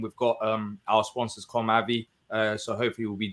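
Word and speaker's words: Comave: how' you spell com ay our wonderful sponsor c o m a v e because it's it looks like comav doesn't it com a yeah but they pronounce it ay apparently com ay anyway yeah I um yeah I I saw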